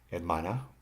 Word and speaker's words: hermana: Examples are hermana, the stress is on the MA.